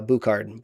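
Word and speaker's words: Bouchard: So, I I've definitely looked up some uh Bukard. Bukard is how you pronounce it.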